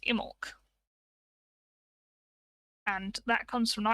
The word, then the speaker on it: Imbolc: start of the show i mentioned in bulk well it's actually probably more pronounced immork and that comes from